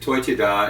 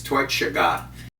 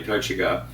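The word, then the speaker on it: Toiteach A Dhà: Now, I might not have pronounced the, I think you said Toitida, and it's Toitshaga, if I remember rightly, Toitshaga.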